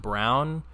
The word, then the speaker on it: Braun: But I remember last year when the Suns played the Nuggets, Christian Brown, spelled Braun but pronounced Brown, dumbest thing ever.